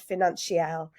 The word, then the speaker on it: Financielle: week's guest Laura pom is the co-founder of financial have I pronounced that right yes Financial it just sounds